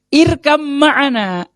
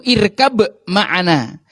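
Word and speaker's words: ارْكَب مَّعَنَا: Irkam ma'ana, ayo naik kapal bareng kami. Irkab ma'ana, cuman bacanya jadi irkam ma'ana. Nah, namanya bacaan ismam. Nanti bapak-bapak akan mendapati di teksnya itu irkab ma'ana.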